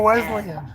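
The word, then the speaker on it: Weslyn: It was spelled um West Lynn. Oh, I I think Wes S L Y N. Oh, Weslin. I knew I was saying it wrong.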